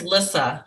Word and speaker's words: Lissa: and it's different on the agenda could you spell it for me it's and how do you spell lisa it's lissa l-i-s-s-a thank you that's what i needed okay